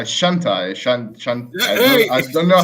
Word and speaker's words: Shantae: No, it's not hentai. No, Shantae.